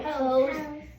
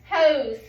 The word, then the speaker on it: hose: What do we see in that we've been working on? S-E. Okay, and S-E, when we have S-E digraph, what does that say? What does S-E say? The Z sound.